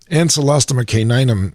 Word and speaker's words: Ancylostoma caninum: That's a fabulous idea because Ancylostoma caninum is the way that organism is pronounced.